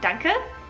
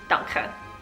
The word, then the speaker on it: danke: Again, we just stole the German word and just made the K sound a little bit stronger, so it's not danke, it's danke.